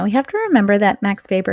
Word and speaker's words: Max Weber: perspective next we have Max Weber now we have to remember that Max Weber is German so that W is pronounced like a V not aw max paper